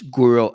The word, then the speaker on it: Guro: Guro Outfitters, like guru, but with an O at the end.